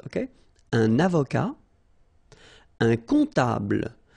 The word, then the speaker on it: comptable: Un comptable, so O-M, remember it goes like on, all right? And then, strangely, this P is not pronounced.